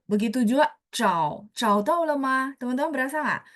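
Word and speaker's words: zhao: Haa O begitu juga Chau Chau tah lemah teman-teman berasa enggak Oh dia bacanya kan z h a u bacanya tapi tulisannya z h a o ya cau misalnya mencari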